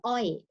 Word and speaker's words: Oay: They come up with the Oay. As you see, just one syllable, but have a meaning. Oay means sugar cane.